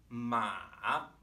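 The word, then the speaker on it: 马: If you can kind of feel your voice bottoming out as you hit the bottom of your register, kind of crackling a little bit. That's a good way to know you're producing a good third tone as you begin, right?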